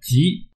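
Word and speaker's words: 𠮷: 字呢叫做吉，这个字呢和吉祥的吉或者吉林的吉呢读音是一样的，但是写法不一样。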